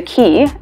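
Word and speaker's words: cay: bachelor but in exuma there's a key and we pronounce c-a-y-key not k there's a key that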